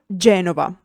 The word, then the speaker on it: Genova: G for Genova.